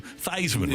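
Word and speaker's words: Theismann: do a Heisman campaign and change the pronunciation pronunciation of his name to Theisman rather than Iceman yeah that's interesting same placement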